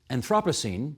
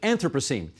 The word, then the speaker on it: Anthropocene: thereafter, you called it Anthropocene. And I have heard others. Well, I've heard both. Which is the right one? There is no right one. It's like Renaissance.